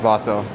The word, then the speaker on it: Basil: Yeah, it's spelled Basil, but pronounced Bosil. Bosil.